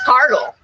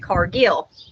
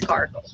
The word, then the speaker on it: Cargill: are in scotland is cargill but since it's become a international company it's pronounced that people pronounce it cargill but the correct pronunciation according to the scottish pronunciation is cargill that's how grandpa said